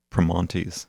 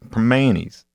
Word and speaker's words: Primanti's: I said, "Well, you're not saying it like you live in Pittsburgh. Right. You got to say it proper. Primanti's."